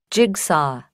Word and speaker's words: jigsaw: phonic and spelling ngữ âm và đánh vầ phát âm á các bạn listening 82 Listen and Point sauce source August August jigsaw jigs jigs straw straw rồi các bạn lưu